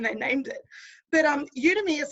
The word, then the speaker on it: Udemy: what is udemy or how do you pronounce it udemy it's like a really strange word isn't it you to me it's like an online